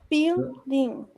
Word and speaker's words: buildings: Buildings. Buildings. You don't pronounce the U, it's only buildings.